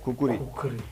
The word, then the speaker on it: खुखरी: नाम दिए गए और अंग्रेजी में अलग अलग स्पेलिंग बने और आखिरकार आज पश्चिमी देशों में इसे कुकरी बोला जाता है। इंडिया में खुखरी और नेपाल में इसे जाना जाता है इसके ओरिजिनल नाम से जो है खुखरी।